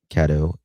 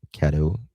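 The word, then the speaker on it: Caddo: OSBI He was found in Kado County. Is am I pronouncing that right? Kado County. Kado Kado County.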